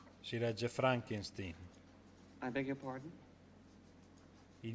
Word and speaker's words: Frankenstein: Frankenstein. Si legge Frankenstein. I beg your pardon? Il mio nome si pronuncia Frankenstein.